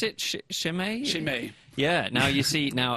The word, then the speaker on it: Chimay: pronounce it? Chimay? Chimay.